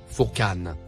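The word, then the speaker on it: Furqan: Le troisième mot en surbrillance vert, se prononce, Fourqan.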